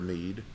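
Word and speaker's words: mjöð: The word mead, it comes from the Vikings. It's actually MJOD, and how they would have pronounced it would be mead, and the English bastardized it into mead.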